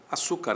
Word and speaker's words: açúcar: a palavra açúcar açúcar açúcar é paroxítona mulher é oxítona certo mulher termina em